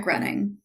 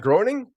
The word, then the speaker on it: Groening: name of administrate um it's like Matt grenning that's wrong everyone pronounces his name wrong too so Knight Rider who produces Knight Rider wrong no I said Matt grinning Matt Groening yes all right Nicole Luttrell